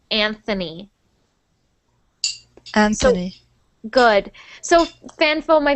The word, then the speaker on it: Anthony: it's because I think in Spanish we only say ant Anthony and actually in Italian too we say Anthony we don't say Anthony but in English we pronounce that Anthony Anthony good so fanfo